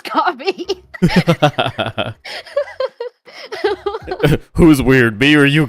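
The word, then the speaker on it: Ko-fi: But I, you know, in my head I just say Kofi. Mhm. And that's like he says cuz it just rhymes with loi. Um Yeah. Yeah. The dash really makes it like people want to say loi. You know what I mean? But it's coffee.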